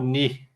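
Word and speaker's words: νῦ: outro é o outro é o ni som de n isso o ni O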